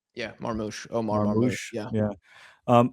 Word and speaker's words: Marmoush: How do you pronounce his name? Yeah, Marmoush.